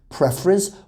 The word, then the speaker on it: preference: this word as well preference is a noun it's pronounced preference but the verb form which is this prefer so it's prefer but preference so pay